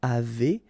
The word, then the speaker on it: avez: nous avons, vous avez, a Z at the end will produce this E sound, avez, little link between the